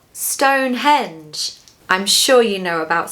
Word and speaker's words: Stonehenge: that they had been to Stonehenge, but they pronounced it Stonehenge. They said, Stonehenge.